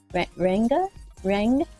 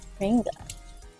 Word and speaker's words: ranga: In Australia, it's pronounced Ranga, like rang, like I rang my friend or something like that. Ranga, like sanga for what?